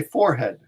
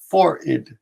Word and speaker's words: forehead: spelling you crowns quickly in American English you say forehead right but in British English they say for it okay fo r Aidid